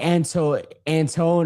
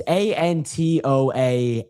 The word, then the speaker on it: Antoine: And it's like Antone or something like that. It's Antoan.